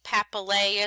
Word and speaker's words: papillae: teeth palate pancreas papillae notice the AE papillae is how you say that and singular it says